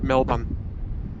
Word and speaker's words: Melbourne: guess um but yeah for me it's m-e-l-b-u-n melbourne like that but uh yeah i